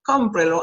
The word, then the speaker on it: Cómprelo: You have to count, including the pronoun, 1, 2, and 3. Cómprelo, and you mark the accent.